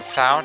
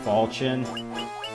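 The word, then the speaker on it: Falchion: How do you say is it fion? What is it? Uh it I mostly go by the Fire Emblem pronunciation which is Falchin.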